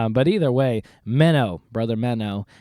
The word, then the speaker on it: Menno: And but either way, Menno, Brother Menno, and not Minnow, like the little fish, Menno, Menno.